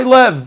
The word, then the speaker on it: Liev: Hi Lev, by the way, Lev, it's not Liev, it's Lev. It's spelled L-I-E-V.